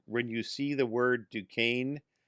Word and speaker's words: Duquesne: you see the word duquesne it's actually spelled d-u-q-u-e-s-n-e yes but it's pronounced duquesne it's gonna be french yes uh uh